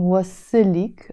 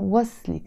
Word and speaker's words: وصلك: But I'm not saying wasilik, I'm saying waslik. So the moment you add this, you don't pronounce the e anymore.